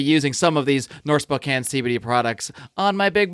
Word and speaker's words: Spokane: ever know who would ever know that it's pronounced Spokane unless you're from that area but regardless our